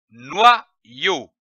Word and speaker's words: noyau: L'association de ces deux syllabes donne le mot noyau.